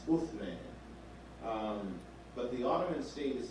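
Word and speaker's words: عثمان: In Arabic, the pronunciation is Uthman.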